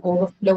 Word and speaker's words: overflow: Okay, all of this is going to take the stress on the second one, which is in understand, it is going to be on stand. In overflow, it is going to be on flow, right?